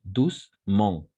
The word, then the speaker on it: doucement: chose très importante ici le E on ne va pas prononcer le E ici c'est à dire doucement dernièrement n'est-ce pas attentive